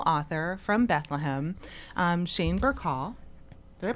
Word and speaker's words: Burcaw: Um Shane Burkhall. Did I pronounce that correctly?